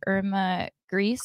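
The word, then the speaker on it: Irma Grese: kept a photograph of Irma gree is how you say it a female SS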